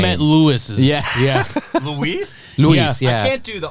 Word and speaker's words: Luis: Luis.